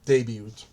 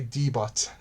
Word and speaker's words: debut: I remember when I started reacting to shiny videos, I didn't even know how to properly pronounce debut and I would say debot. and I was kindly corrected in the comments section.